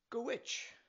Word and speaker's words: Dhuit: - "wash-a" And the last word is Dhuit, pronounced "gwitch" Go put it all together now.